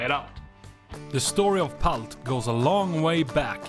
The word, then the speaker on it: palt: Palt. Palt. Peelt. Palt. Either way, it's pronounced palt in Swedish.